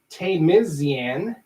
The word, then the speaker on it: Tamizian: It's exactly how it's spelled. Nice. Nice. And he says it right here. Hey guys, my last name has one Z in it.